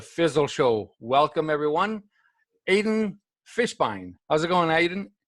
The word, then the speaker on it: Fishbein: co-host of the fizzle show welcome everyone Aiden Fishbein how's it going Aidan it's pretty good man